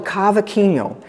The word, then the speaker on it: cavaquinho: And this one um is called a cavakino. And I'm going to spell it because I had to learn how to spell it myself. And it's c a v a q u i n h o. Kavakin.